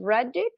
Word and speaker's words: Reddick: starring samantha russell and bill reddick i think is the right way to say that bill reddick right read it yeah i did it okay